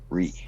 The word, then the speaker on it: Righ: Known online as Ree, which is spelled exactly as it sounds, R-I-G-H. Ree.